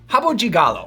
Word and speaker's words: Rabo de Galo: outside of Brazil but this is how you pronounce it Hab Habu jigal no Habu Gigalo anyway we're going to make this drink that